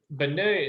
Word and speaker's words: beignet: is the one that sells it okay so bene is spelled b-e-i-g-n-e-t yeah there you go i knew it's a